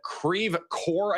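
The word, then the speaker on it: Creve Coeur: over Clarkson Valley and Creve Core I think it is is in the path of this. I know some of you guys are correcting my pronunciation. Creve core Clayton Normandy St.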